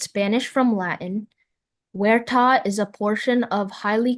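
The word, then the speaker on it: huerta: Werta is a portion of highly cultivated land in Spain as for an orchard.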